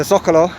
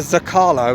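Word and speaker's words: Zócalo: Okay, we're now in that one word that I dread saying when I'm in Mexico because I always pronounce it wrong. The Zocalo, not the Zocalo as I used to say about 2 years ago.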